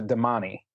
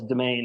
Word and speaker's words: Domani: example in the in the book they do pronounce a domani that's right yeah and I had it in my head I read it as domain and so I yes it's one of those